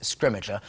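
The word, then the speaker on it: Scrimgeour: to say his name and we're going with scrimmager i think that's how we've ended up saying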